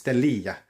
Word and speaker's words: Stelia: It's It looks like Stella, but it's Stellia.